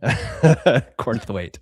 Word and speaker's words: Cornthwaite: ask you, does it is it pronounced Cornthwaite or is it like the way that uh Doug Grudeus pronounced it Cornth- wait? I think you said it perfectly. Cornthwaite.